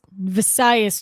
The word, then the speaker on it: Visayas: um on the vis visayas tribe which is how you pronounce it um tom and play